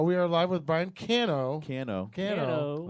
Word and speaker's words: Cano: it's hot over there it can be pronounced Kano but it's it's definitely not Cano are you palian Cano not what are you it's like a can of soup can o okay all right so